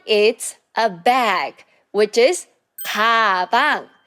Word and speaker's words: 가방: And the next one is a bag, which is 가방. So as you can see, the first syllable, it has 그, 아. 가방. 가방. And the third word is 고기, which means it's meat.